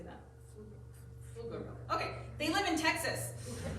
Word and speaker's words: Pflugerville: Pflugerville.